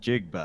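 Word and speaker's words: Njigba: I think it is it's n-j-i-g-b-a so jigba I think this I think that's how you say it I want to stick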